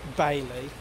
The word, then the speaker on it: Bayley: I went to say hay, then I went to say Bayley, which is my name, because it rhymes with hay.